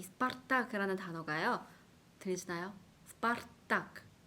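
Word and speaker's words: Спартак: 이 스파르타크라는 단어가요. 들리시나요? 스파르타크. 이 를 연습하기 굉장히 좋은 단어예요. 추천합니다. 여러분 이 단어로 이 혀 떨림을 한번 공부를 해보세요. 굉장히 힘을 주어서 발음을 하시면 돼요.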